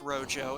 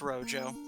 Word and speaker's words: Rojo: reminders to folks that it's pronounced Rojo, and we've had to in turn tell him that, You shouldn't have spelled it that way? Yeah, basically. But yeah, it's Rojo.